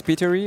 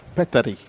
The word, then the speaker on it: Petteri: It's Petery or Peter? Petteri. Petteri, okay.